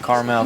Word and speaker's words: Carmel: See, but they pronounce it Carmel Valley. So. Well, it's spelled, Carmel is actually spelled C-A-R-M-E-L, so there is no A in the geographic location.